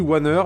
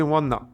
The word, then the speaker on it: Waner: On lit Wanner, mais c'est Wanna. Ça se prononce comme ça.